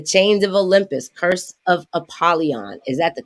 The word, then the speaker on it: Apollyon: is called the chains of Olympus curse of apolon is that the correct way to pronounce it yes ma'am all right well welcome